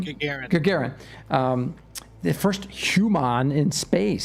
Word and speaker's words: Gagarin: And everybody, yesterday was the 60th anniversary of Yuri, what, how do you say his last name? Gagarin.